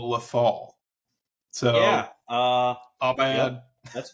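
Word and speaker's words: Lothal: and the first one we kept calling it lowf which it is actually called lethal so yeah uh bad that's my bad no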